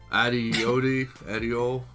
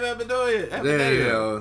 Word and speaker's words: Adebayo: Adeol, Bam Adeol. Sorry. Oh, Bam Adebayo.